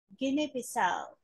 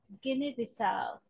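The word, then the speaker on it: Guinea-Bissau: Yes, it's Guinea Bissau. And the stress is in the last syllable here. So let's write the stress here. Ah, Guinea Bissau.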